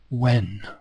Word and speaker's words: when: are you coming in the H in when is silent so it could be written like this when but it isn't it's written like that when must you must